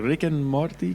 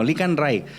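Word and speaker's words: Licán Ray: I was like, Rick and Morty, ¿qué, güey? Okay. Like Rick and Morty. No, Licanray. Okay. It's spelled Ray.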